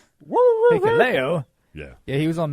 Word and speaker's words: Hikuleo: Oh, Hikuleo? Yeah, Hikuleo.